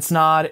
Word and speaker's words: Snod: my name is snod it rhymes with odd and welcome to another